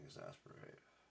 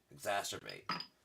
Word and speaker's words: exacerbate: I think I said it right, but then I fucked up and started saying exasperate. Exacerbate.